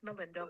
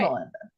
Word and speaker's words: Malinda: Ooh, how to pronounce Melinda's name?